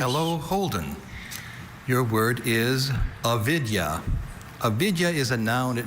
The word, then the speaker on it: avidya: Your word is avidya. Avidya is a noun. It means ignorance, specifically blindness to ultimate truth. Avidya.